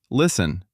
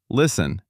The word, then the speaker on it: listen: Listen. The T is silent. Listen.